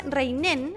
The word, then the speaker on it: Rheinen: está en línea aquí en buena costumbre reinen yo me corrige así he pronunciado mal su apellido ella es directora de